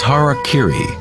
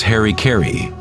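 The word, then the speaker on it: hara-kiri: suicide or seppuku was hara kiri was often mispronounced as harry kerry it means to impale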